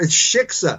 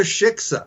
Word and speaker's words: shiksa: of jew are you anyway you can't even pronounce the word shiksa is it shikha sh ted you pronounce that anyway uh uh well it's it's took the shiksa there you go you got it okay i'll